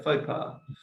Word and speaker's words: faux pas: is more so it's uh how do you pronounce it for bus is it mopar yeah faux pas actually it's it's it's like a negative term